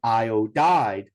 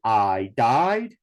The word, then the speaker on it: iodide: one would be iodide iodine is three syllables so it would be iodide would be three syllables as well if we had changed it to two syllables then it would be I died and that would not be uh appropriate okay now if